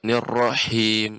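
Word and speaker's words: الرَّحِيم: Lebih pengucapan haknya Ibu. Nirrahim. Nirrahim. Itu Ustaz. Tidak nirrahim atau nirrahim. Nah, ini ada tebal, ada hentakan.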